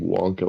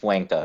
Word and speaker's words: Wanka: Also, I don't know why everybody calls him Wonka when his name is spelled Wanka. Fuck Wanka. I'm pretty sure that's what it's supposed to be. Because it's easier to say Wonka when you're American.